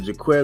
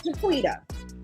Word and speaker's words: Jaquita: Is it Jaquetta or Jaquita? I don't know how to pronounce that. It's Jaquita. Jaquita?